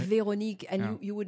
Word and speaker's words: Véronique: Because you've got an accent on the E as well, Véronique, right? Véronique, and you would not believe how my name's been pronounced until I pronounced it for people.